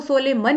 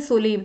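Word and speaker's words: solemn: green शिविर सुबह सलीम इसको 16 मन नहीं बोलती इसमें एंड साइलेंट होता है इसको बोलते हैं सलीम स्ट्रॉल मतलब सख्त मिजाज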